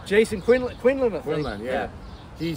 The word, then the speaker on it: Quinlan: Is that how you pronounce his name? Jason Quinlan.